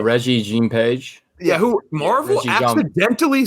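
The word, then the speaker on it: Regé-Jean Page: keep wanting to say I keep wanting to say Jean Reno but I know that's bro Reggie Jean page yeah who Marvel accidentally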